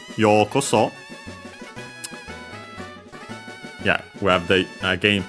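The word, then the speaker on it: ようこそ: Because after that we have yokoso, another expression. We've seen it before, because I remember actually we have checked out also the origin. The accent is on the yo, so high and everything else low.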